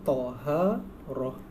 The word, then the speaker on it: taharah: Ni cara bacanya taharah.